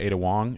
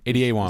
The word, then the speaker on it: Ada Wong: because we started to play it in Andrew's a Wong and I am this insulated character with a helmet a Wong ad Wong okay Ada Ada Wong that's how you spell it yeah um and